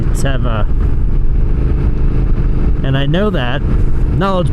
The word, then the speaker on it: Teva: I always pronounced it Tiva. It just sounds better. and it's actually Teva.